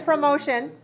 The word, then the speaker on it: promotion: All right, so here's promotion. This one is a noun. Can you see? Promotion. And we pronounce it with 3 syllables?